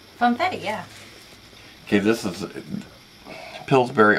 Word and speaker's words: Funfetti: Funfetti? Funfetti, yeah.